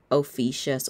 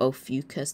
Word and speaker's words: Ophiuchus: In the sky, it's in Ophiuchus or Ophiuchus, depending on your pronunciation.